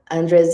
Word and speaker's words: Andreas: is from saber and I'm very sorry if I'm pronouncing it wrongly and please Andre introduce yourself say it correctly please to help me and please go on with your presentation thanks for the introduction yes you pronounced it very well saamaka is the name